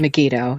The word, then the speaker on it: Megiddo: Is it Megiddo? Is that Megiddo?